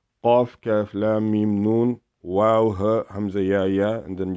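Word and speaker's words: واو: The wow is like wow.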